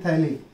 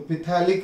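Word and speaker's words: phthalic: Pronunciation क्या करना है? थैलिक. PH उसका साइलेंट है, तो पिथैलिक नहीं, इट इज थैलिक एसिड.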